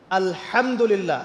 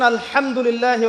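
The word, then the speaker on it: الحمد لله: এই হা এর মাখরাজ কোথায়? হা এর মাখরাজ কোথায় বলেন একজন? কণ্ঠনালীর মাঝখান থেকে। এখান থেকে আপনি উচ্চারণ করছেন আলহামদুলিল্লাহ রব্বিল আলামিন। অর্থ দাঁড়াচ্ছে সমস্ত প্রশংসা জগৎসমূহের রব আল্লাহর জন্যে, ঠিক আছে? কিন্তু আপনি এই হায়ে হুত্তির জায়গায় যদি হায়ে হাওয়াস পড়েন, যার মাখরাজ অন্য জায়গা থেকে, আপনি পড়ছেন ফর এক্সাম্পল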